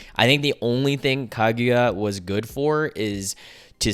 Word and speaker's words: Kaguya: Bad this early but kaguya uh I know I'm pronouncing it wrong kaguya there you go is just such a